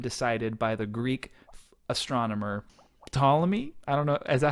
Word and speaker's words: Ptolemy: Ptolemy. I think so. Ptolemy? You don't say the P? That's disappointing. I think it's I think it's disappointing. Because of the silent P.